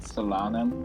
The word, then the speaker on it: Solanum: It's meant to be said Solanum, but I just prefer Solanum.